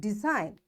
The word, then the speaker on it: design: is after g so this g is silent and we'll say it design foreign sign a line